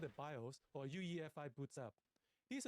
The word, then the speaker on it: BIOS: So BIOS is the correct way to say it to the master boot record system which limits this size to two terabytes.